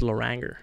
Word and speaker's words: Loranger: very badly laer Chris if I pronounce it French like people wouldn't understand I say I Chris Loranger is that is that wrong super wrong no that it's been pronounced that way too that's L Laur Chris